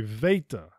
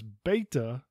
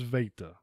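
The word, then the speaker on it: Βήτα: is Alpha followed by Veta this is often pronounced as beta but the correct pronunciation is Veta Yama typically we'll say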